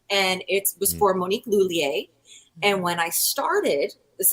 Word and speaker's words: Lhuillier: And I had to say, I don't know how to pronounce the name. And she said, Lhuillier. And I was like, oh, okay, great. And there I am. Hello, good afternoon, Monique Lhuillier.